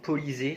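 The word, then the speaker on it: Polizei: Police allemande, Polisée, ça se prononce.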